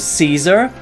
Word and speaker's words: Cesar: In fact, apparently you just say his name as Caesar, like normally.